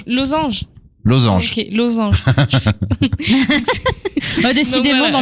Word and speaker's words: Losange: Oui, à l'Otari, à partir de 19h jusqu'à 20h, on a le groupe Los Angeles. Losange. Ok, Losange. Décidément, donc, dans les prononciations là.